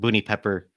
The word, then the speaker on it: Boony Pepper: Side note, Boony Pepper, it's pronounced Boony Pepper for anybody who doesn't know what to do with that string of characters.